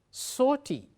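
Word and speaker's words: sauté: Saute, we pronounce as saute, to quickly fry food by placing it in hot oil in a frying pan.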